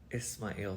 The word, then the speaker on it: Ismail: his name i pronounce i was saying ishmael for you guys or ismail for you guys we actually pronounced ismail um i wanted to call uh my uh son ismail since i was probably 15 16.